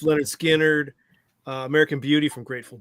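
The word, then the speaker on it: Lynyrd Skynyrd: But as I'm researching Fuller, I've got coming up uh also a T for the Tillerman from Cat Stevens, pronounced Leonard Skannard, uh American Beauty from Grateful Dead, um Astral Weeks from Van Morris.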